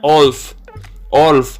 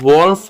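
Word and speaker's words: wolf: ये देखने में, पढ़ने में वोल्फ लग रहा है, लेकिन आपने जो W है वो साइलेंट है, सो आपने पढ़ना है ओल्फ, नो वोल्फ, ओल्फ।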